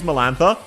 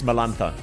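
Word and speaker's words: Melantha: How many of you have actually had to use Milantha because you needed a cure guide for something? You pronounced it wrong. It's Malantha. Activate the Malantha skill.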